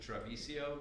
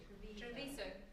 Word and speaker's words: Treviso: And uh, as I already mentioned, the housing forum next week, Wednesday, at how do I pronounce it? Travisio, Traviso, Traviso, Traviso.